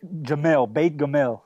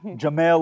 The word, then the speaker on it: Gamel: Well, we're at Beit Gamel, depends on who you ask and how you say it, Gamel or Gamel.